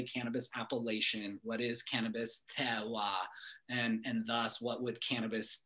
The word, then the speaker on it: terroir: If you can, try to say it like a Frenchman. Okay. Terroir.